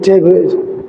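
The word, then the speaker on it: table: কি বলবো, আমার একটি টেবিল, যেটা আমরা বাংলায় বলি টেবিল। তো আই হ্যাভ এ টেবিল, যদিও উচ্চারণটা I have a টেবল। টেবিল যেটাকে আমরা বলি বাংলায়, এটার ইংলিশ হলো টেবল।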